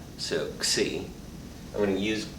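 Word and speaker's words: xi: use the greek letter c it's pronounced as a k followed by an s and then your vowel so c i'm going to use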